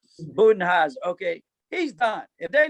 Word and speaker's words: Budenholzer: Now, Budheiser, I'm not sure how you say his name. Budenholzer.